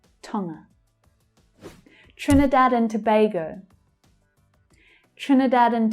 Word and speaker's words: Tonga: Tonga, Tonga. The stress is on the first syllable, tongue, tongue, with the second syllable being the reduced schwa sound. Tonga.